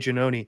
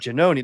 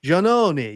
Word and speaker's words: Giannone: her face and she's, "Oh, Janoni, that's not how you say it, Janoni."